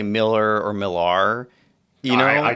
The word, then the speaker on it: Millar: right it's the same alar sounds like you're making fun of the man well people think malar is more uh dignified for some reason I've heard not I I feel like I am intentionally mispronouncing and that's tamaka man and that's only Mark malar and it's only Mark Miller who I think prefers it Miller well since you brought